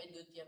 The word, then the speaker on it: द्वितीया: तरंगान में बताओ कोई द्वितीय बहुवचन द्वितीया द्वितीया बहुवचन द्वितीया नहीं द्वितीया द्वितीया इसका कोई उच्चारण ठीक ही नहीं करता है। द्वितीया तृतीया नहीं ठीक नहीं कर रहे द्वितीया तृतीया ऐसे बोलना तो यहां द्वितीया बहुवचन है।